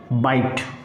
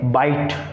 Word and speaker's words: bite: And bit के अंदर जैसे ही मैंने क्या किया, e को ऐड किया, now we get a new formation pronounced as bite. Okay, bite, bite.